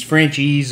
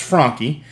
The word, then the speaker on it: Franchi: the southeast you probably heard people call these Frenchies or whatever you know nobody it's pronounced Franky um the original company was Luigi Franky from